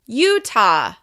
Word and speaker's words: Utah: Once again, this state is stressed on the first syllable. Utah.